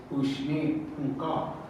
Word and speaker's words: Ushni Punka: And where there's another tribe, Northern Ponca, but in their language, it's Ushni Punka. That's how you say it.